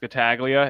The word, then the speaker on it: Scataglia: It can be difficult, but it's pronounced Scataglia.